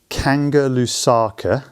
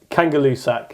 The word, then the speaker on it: Kangerlussuaq: A, and excuse my pronunciation here, Kangerlusaka in Greenland? Kangalusak.